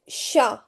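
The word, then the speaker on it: chat: The ch sound may ch English ch but in French it is sh sound, right? like sha shono. Sha means cat. Sho means like hot. Uh sher means to look for right to if you're searching something to look for something. And shonso means uh song. Okay. Sho means song. So it changes into sh in French, right?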